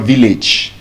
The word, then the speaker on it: village: When we have AGE at the end of any word that is more than 1 syllable, that A will give us a short E sound. So for example, it's not village. Village. You're not traveling to your village.